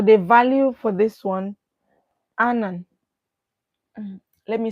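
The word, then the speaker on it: Ananth: for undergraduate so the value for this one Anan let me spell that for you a n a n t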